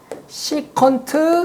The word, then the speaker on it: 시컨트: 코사인의 역수도 있겠고, 코사인분의 1을 일명 뭐라 그러냐면 SEC 세타라 그래서 읽을 때는 시컨트 세타라고 읽어요.